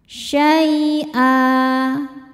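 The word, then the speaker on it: شَيْئًا: Syai saat berhenti hukumnya mad iwad. Karena ada harakat tanwin fathah yang diwakafkan. Cara bacanya hamzahnya ini panjang dua harakat dan tidak ada bunyi n-nya lagi ya.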